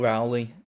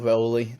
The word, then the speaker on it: Rowley: And that is Paul Rowley, or Rowley, depending on how you pronounce it.